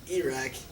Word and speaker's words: Iraq: Why are all the vowels so long? It's Iran, Iraq, and Arabs.